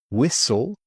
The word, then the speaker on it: whistle: Silent T. Listen, castle, whistle, whistle, fasten, fasten. If you're on a plane or you're in the car, you need to fasten your seatbelt.